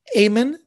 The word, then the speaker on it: Amen: this artist the artist's name is irving amen amen spelled like amane spelled the same way a-m-e-n irving